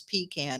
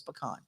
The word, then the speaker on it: pecan: People say in Georgia, it's pecan. In Michigan, it's pecan. Well, I'm going to tell you, in Louisiana, we say it right. It's pecan. So yes, pull over. No, everybody go home. Yeah, y'all saying it wrong.